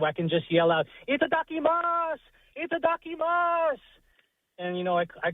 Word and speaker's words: itadakimasu: So it's itadakimasu.